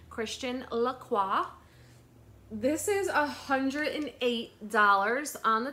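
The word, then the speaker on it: Christian Lacroix: and I made sure to say it right Christian laqua this is $108 on the tag it is faux leather it is a crossbody or longer shoulder bag it is brown faux leather with the CL Christian laqua um beautiful florals around the front I love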